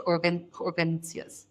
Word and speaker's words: urgencias: your bladder or your bowel, go straight to urgencias.